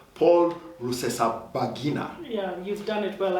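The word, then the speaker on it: Rusesabagina: i'm going to start with this name paul russesa bagina yeah you've done it well i can never pronounce that name that's right and uh yeah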